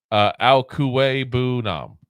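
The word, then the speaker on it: Okwuegbunam: So Albert Alkuwe-Bunam. That's according to Google how you pronounce it.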